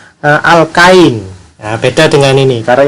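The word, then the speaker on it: alkyne: Lalu yang alkuna itu bahasa Inggrisnya alkain. Nah, beda dengan ini. Karena ini alkene, ini adalah alkain.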